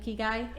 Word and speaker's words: ikigai: Yes, and that's how you say it, ikigai. It's ikigai is a Ikigai. Japanese concept that means your reason for being. Iki reason. in Japan means life, and gai describes your value or worth. So your ikigai is your life purpose or your bliss.